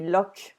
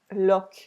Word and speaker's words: Loch: I think it should be Loch, but I don't know Scotland enough to tell you. But in French, we say Loch. Loch, that's the pronunciation in French of that.